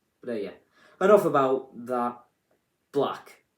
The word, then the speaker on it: 6LACK: Black, which is spelled 6LACK, and it doesn't make sense that it's pronounced black. It should be I always say it as Six Lack.